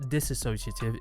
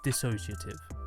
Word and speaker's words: dissociative: as it as disassociative it's not disassociative is dissociative like dissociative drugs um in